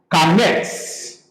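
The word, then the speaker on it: קָמַץ: which is pronounced as kametz.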